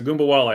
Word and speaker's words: Ogunbowale: And how do you pronounce her last name? The point guard that's playing for Ogunbowale. Yeah, so Ogunbowale.